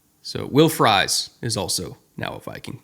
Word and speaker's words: Fries: They said it's like the food. It's fries. And I said, "Cool. Thank you." Because I too struggled with that pronunciation. So, Will Fry is also now a Viking.